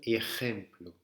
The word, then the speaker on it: ejemplo: Le J, certains français, on a du mal à le faire. C'est R. C'est pas R, c'est comme un R, mais beaucoup plus profond. On va le chercher au fond de la gorge. Un peu comme si on allait cracher, mais évidemment on ne crache pas. R. J. Là, dans ce mot, ça se dit un ejemplo.